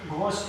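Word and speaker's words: ghost: तो यहाँ पे ध्यान रखना है, कुछ व्यंजन के बाद यानी कुछ व्यंजन शुरू में आ जाए उसके बाद अगर एच आता है तो हमेशा एच यहाँ पे साइलेंट होता है, जैसे राइम, यहाँ पे हम घोस्ट बोलते हैं, एक्सेट्रा।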